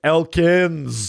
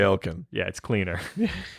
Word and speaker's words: Elkins: as john knew him he was saying his name wrong yeah i was like elkins there's not more than one of you here i don't like that i'm gonna call you elkin uh yeah so they now we're now back